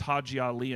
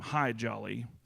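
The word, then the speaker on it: Hadji Ali: And one of them, his name was Hajali, and he was supposed to be like a funny, gregarious guy. Uh, but nobody could say his name right. They called him Hy Jolly.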